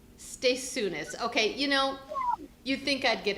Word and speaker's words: Staisiunas: Okay, so say your name, last name again, because I always pronounce it wrong. Oh, yes, very few people get it off the first time. It's Staisunas. Staisiunas.